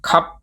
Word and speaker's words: ครับ: So you don't need to worry about pronouncing the rar anymore. You can just end your sentences with cup when asking questions, answering questions or making regular statements.